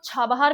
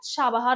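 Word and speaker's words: چابهار: हमारे क्या trade ambitions हैं, link to central Asia via Chabahar. इसको क्या बोलते हैं, इसको छाबहार भी बोलते हैं, इसको शाबहार भी बोलते हैं। ईरानियन प्रोनाउंसिएशन इसका शाबहार है।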